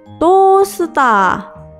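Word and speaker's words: トースター: Ditulis dengan huruf katakana, jadi to, strip, se, ta, strip, tosta. Jadi, panggangan dalam bahasa Jepang juga bisa disebut tosta.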